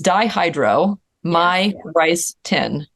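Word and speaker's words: dihydromyricetin: do you spell that it's dihydro my rice tin so it's very my rice tin my like if you know if you like went to a Chinese restaurant this is my rice tin brilliant that is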